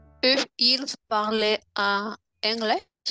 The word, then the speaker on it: parlaient: Eux, ils parlaient en anglais. ENT à la fin, on ne prononce pas.